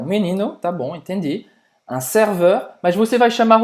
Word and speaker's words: serveur: Faz a boca do O aberto e fala E.